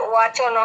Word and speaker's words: वचन: এটা কি বচন হবে না ওয়াচন হবে? ওয়াচনা। উচ্চারণ হবে ওয়া ওয়া ওয়াচনা ওয়া আর ওয়াচনা মাব্রাবীত।